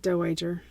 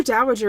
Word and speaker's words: Dowager: do you pronounce it I've always said don't wait her okay I'm sure Dowager is correct but you can't mock